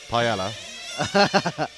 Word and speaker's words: paella: Paella.